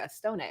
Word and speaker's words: Vittoria Estone: And then we have colors by Vittoria Estone or Estone, I'm not sure. Either way. But I believe it's a Stone. He is Italian, so I think you that's pronounce what I was you going pronounce for. the E.